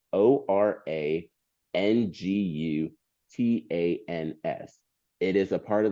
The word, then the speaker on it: orangutan: There's no G at the end of orangutans. It's wild because you pronounce the G.